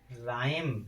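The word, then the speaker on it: rhyme: जैसे रिदमम रिदमम माने लय राइम राइम माने कविता राइना सरस माने होता है गैंडा इन सभी में क्या है आर एच शुरुआत में है इसलिए इसमें एच का उच्चारण नहीं होगा अर्थात एच अक्षर साइलेंट होगा।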